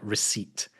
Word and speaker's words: receipt: But yeah, there are words like receipt that has a P in it that doesn't need